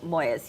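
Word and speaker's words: Moyes: going to I'm going to go with JoJo Moes yeah um such a fun book so I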